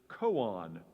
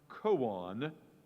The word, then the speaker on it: koan: And your word is koan. Koan. This is a Japanese word. This is something called a paradox in Zen Buddhism. It's an instrument for meditation that the monks use. The most widely known koan is the question, what is the sound of